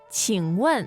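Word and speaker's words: 请问: Now, you want to ask a question, you say, 请问，请问，请问, and that's fourth tone on the one.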